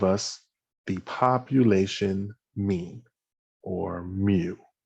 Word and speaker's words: mu: symbol right here and that symbol right here is pronounced mu it's a greek symbol all right um and